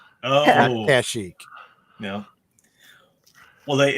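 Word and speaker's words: Kashyyyk: planet and he said kazuk oh kashik yeah well they in the nights of the Old Republic they pronounce it kashik casik yeah Chic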